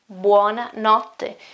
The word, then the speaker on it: buona notte: one or not them buona notte which is good night basically okay good night wanna not let's think about for a moment think about that pronunciation this TT okay this TT it often happens in